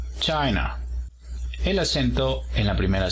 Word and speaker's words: China: China tiene el apóstrofo en la primera sílaba. China.